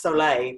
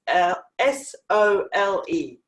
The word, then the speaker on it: sole: we're making Himalayan soul now I call it soul it's actually supposed to be pronounced soul a but this it's sol é só so what is a soul a soul